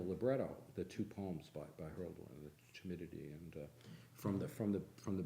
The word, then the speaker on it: Hölderlin: a section on, Holderlin is one of the, Hölderlin, it's not Holderlin, which I prefer, but Hölderlin has, You didn't know his own name was pronounced.